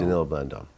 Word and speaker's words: Danilo Blandon: So when you start dealing with uh Blandon, how do you pronounce the name? Denilo. Danilo Bllandon. Denilo Bllandon.